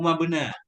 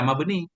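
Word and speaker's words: مبني: Saya kayak cenderung bacanya harfu mabena, la harfu makna. Tapi di sini ada ya, mesti kita baca mabeni.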